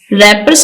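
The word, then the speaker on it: wrappers: रैपर्स ऑन the road रैपर्स का W silent है आप देखि इसको प्रोनाउंस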